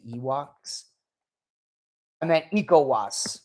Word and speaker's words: ECOWAS: countries in the EU African countries in um ewas I I butchered that uh it's not you it's not it's uh not did I say Ewoks and then ecowas right nikowas is a good example of a